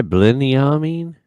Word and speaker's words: Binyamin: headband what's his name BL mean did I say it right Blen me yeah that's right pretty good are you